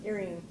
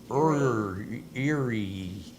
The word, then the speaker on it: Erying: How do you say that? Earring. Earring? Earring. It's an earring? Earring. Eerie. Crying. Just change the E to a C.